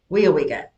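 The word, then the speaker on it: Weyauwega: I've never We seen that Weowega is how you pronounced it. Weowega? Weowega.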